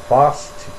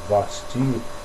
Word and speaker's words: Vasti: a vista porém a rainha Vas ou vasti depende aí da sua pronúncia e do seu estado recusou vir conforme a